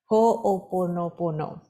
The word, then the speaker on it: Ho'oponopono: Let me just get the right pronunciation. Ho'oponopono.